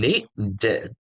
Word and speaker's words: needed: So remember, the first column, we're gonna need to pronounce it, and it has to be a clear sound. So we're gonna say wanted and needed.